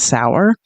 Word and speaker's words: Sauer: Trump's own solicitor general, John Sawyer, who and if you don't know who I mean, I guess I think the more correct pronun pronunciation is Sour.